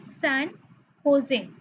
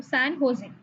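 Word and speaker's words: San José: सैन होजे, जे यहाँ पे silent रहता है, इसको जे को हो प्रोनाउंस करते हैं, तो सैन होजे, ठीक है?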